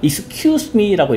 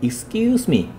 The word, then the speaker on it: excuse me: 그리고 우리가 excuse me라고 이렇게 발음을 많이 배우시지만 원어민들이 얘기할 때는요. 격음, 쌍기역처럼 excuse me. 강세가 끼우에 있어요. Excuse me, excuse me 이렇게 되지.